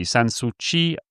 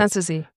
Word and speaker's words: Sanssouci: Sanssouci, I never know how to pronounce it. Sanssouci.